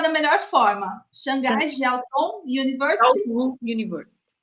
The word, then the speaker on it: Shanghai Jiaotong: Me ajude a pronunciar da melhor forma. Xangai Jiaotong University. University. Shanghai Jiaotong.